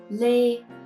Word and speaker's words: Lê: Let's start with the a sound, e with a hat. This is a. So when you pronounce this vowel, you have like your mouth is in the neutral position. Very relaxing. You bring your jaw out a little bit. A, and say a. To say this vowel, it's just like the a, letter A in